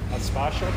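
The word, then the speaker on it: Sparshott: Can I just get you to spell that as well? How do you say that? Sparshot, S-P-A-R-S-H-O-T-T.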